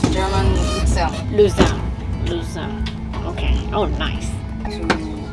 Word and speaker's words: Luzern: How do you pronounce Luzern? Luzern. German Luzern.